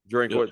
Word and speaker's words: Drinkwitz: agree with you more coach drinkwitz did I pronounce his last name right yeah drinkwitz yeah drinkwitz former ncate dorits you can call